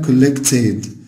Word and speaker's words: collected: عارفين إن الـ ed بعد الـ t sound بتنطق ed عشان كده قلنا collected.